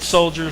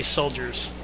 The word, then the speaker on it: Soldier Field: They moved from Bridgeview back to Soldier Field for the second time, and Jumbo Joe at the helm of the production team over at Soldier Field. Do not say soldiers. It's soldier.